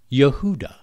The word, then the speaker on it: Yehuda: tribal name in Hebrew since there was no letter J in Hebrew was and is pronounced properly Yehuda so if the first